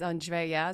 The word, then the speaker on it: Andrea: Before we start, I have to say that, my name is Andrea, so it's 3 syllables.